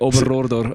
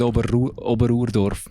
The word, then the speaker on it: Oberrohrdorf: Oberrohrdorf. Es ist Oberrohrdorf wird eigentlich immer recht falsch lustig. ausgesprochen. Ich habe immer das Gefühl, alle sagen Oberurdorf.